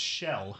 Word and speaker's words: Schell: Schell, I think I might have mispronounced it. It's Schell. Schell.